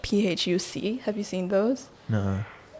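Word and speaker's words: Phúc: names that are like phuc have you seen those no yeah but apparently they're not pronounced with an f either do you enjoy um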